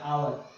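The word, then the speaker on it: hour: इसमें हार नहीं होता, एच वर्ड साइलेंट होता है, पीछे वाला होता है आवर, आवर में फर्स्ट वर्ड आ आता है इसलिए आर्टिकल एन आता है।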